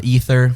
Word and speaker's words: Aether: That's active at the moment, and then Ether, which is my more actually, I don't know.